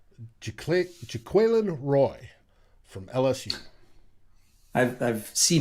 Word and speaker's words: Jaquelin: Until I hear him say it, but everybody's saying it's Jaquelin Yeah, versus I'll go with Jacqueline. that. But Yeah, it ain't Jacqueline.